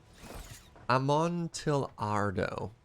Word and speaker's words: Amontillado: I know enough to know that I cannot possibly pronounce it correctly, and so Amontillado. So it's not Spanish. It's not a Y. It's an L.